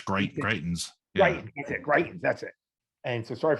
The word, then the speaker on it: Greitens: Greitens, that's it.